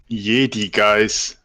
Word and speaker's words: Jedigeiss: Honestly, I didn't think of anyone pronouncing it in English. Well, how would you say it in your native tongue? Jedigeiss.